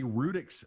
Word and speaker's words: Brutix: Yes, and since the B is silent, I want everybody to remember this is a Rutix Navy issue.